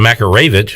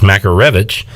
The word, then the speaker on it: Makarevich: they notified him that we had been saying his name wrong exact said of makarovic it's makarevich so uh maybe we